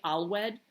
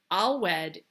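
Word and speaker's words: Alweid: of the snake is spelled a-l-w-e-i-d alwed all wed appears as like the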